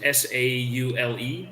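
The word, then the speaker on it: Saule: how to pronounce it s-a-u-l-e so like saw the name but saul yeah that start i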